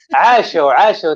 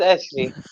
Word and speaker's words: عاشوا: عاشوا. It's not Ashley. عاشوا, but we didn't say it.